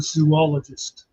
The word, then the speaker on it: zoologist: No, but if you think about it, if it was zoologist, there'd be 3 O's. Zoologist. It's actually zoo from the Latin or Greek zoa, meaning animal.